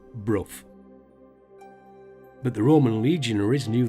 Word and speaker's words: Burgh-by-Sands: Now, being a Yorkshire lad, I would have pronounced it Burgh-by-Sands, but I've been reliably informed that it is pronounced Bruff.